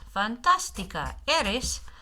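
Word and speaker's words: fantástica: Accent right there to give the accent to give the syllable in the middle the emphasis. Fantastica.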